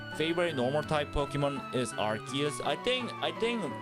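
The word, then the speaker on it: Arceus: none other than our uh god of creation Arus or should I say Archus because they changed the pronunciation for some reason. So my favorite normal type Pokemon is Archus.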